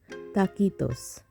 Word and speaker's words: taquitos: Mexican rolled up recipe in Mexico the pronunciation is takitos so before we start